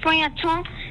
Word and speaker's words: feuilleton: My favorite word is feuilleton because it's spelled so differently than it's pronounced.